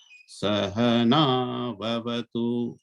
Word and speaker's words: Sahana Vavatu: not go up or down, it should be Sahana Vavatu.